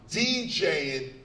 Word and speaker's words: DJing: In fact, you say DJing, cutting, mixing, scratching like you would say violin or berlin or penicellin or any of the ends.